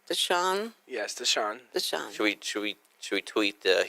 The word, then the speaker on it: Deshaun: Yes, Deshaun.